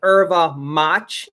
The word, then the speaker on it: erva mate: Erva Mate is called Erva Mach, ERVAMATE. It's called Erva Mach in Brazil, and it's also called chimarrão.